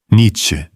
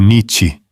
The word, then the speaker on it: Nietzsche: Nietzsche, ou Nietzsche, que no seu sotaque provavelmente já sai certo. Uma africada no meio, vogal neutra no fim, nada de garganta.